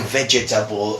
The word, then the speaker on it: vegetable: They try to say vegetable, but actually the pronunciation of this is vegetable.